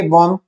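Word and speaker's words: bomb: बी ओ एम बी बॉम, इसमें B silent है।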